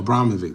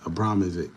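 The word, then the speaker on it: Abramović: know it's Marina Abramovic Abramovic no Abramovic that's how you say it Abramovic yeah oh I'm glad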